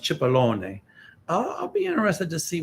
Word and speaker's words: Cipollone: what happens with uh in italian is pronounced cipollone i'll be interested to